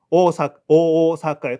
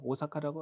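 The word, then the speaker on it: 大阪: 그 때문에 오가 장음이 한 박 두 박 겸에 사카 가는 건데 그걸 우리 오사카라고 하잖아요. 그다음에 도쿄 마찬가지고. 이걸 한글로 그냥 오사카에 발음할 때 오사카, 도쿄.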